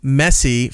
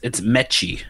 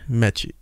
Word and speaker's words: Messi: Influencer instantly is regretting his Lionel Messi face tattoo. It's that's how you pronounce it, right? M-E-S-S-I, Messi, the big... Yeah. No, it's Mechie. Mechie.